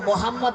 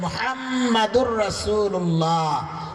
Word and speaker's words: মুহাম্মাদুর রাসূলুল্লাহ: সমস্ত মুসলমান পরে মোহাম্মদ মোহাম্মদ। আমাদের নবীর নাম মোহাম্মদ না, নাম হচ্ছে মুহাম্মাদুর রাসূলুল্লাহ।